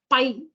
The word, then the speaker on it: pi: need to know about this Greek letter, which is pronounced pi.